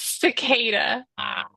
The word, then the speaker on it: cicada: be I bet I do what is the pronunciation of your new book it's cicada next up we have Sada about a giant